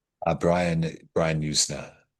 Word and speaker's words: Yuzna: on the page and uh how do you pronounce this? Is it Yansna or Yusna? Uh Brian Brian Yusna Yusna.